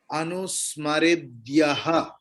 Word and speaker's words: अनुस्मरेद्यः: letter will be pronounced मरेद्य के बाद विसर्ग है उसका प्रोनाउंसिएशन होगा अनुस्मरेद्यः विसर्ग का प्रोनाउंस विसर्ग जब अंत में रहता है तो उसका प्रोनाउंसिएशन ह की माफिक होता है चलिए अनुस्मरेद्यः अणोरणीयान् अणोरणीयान्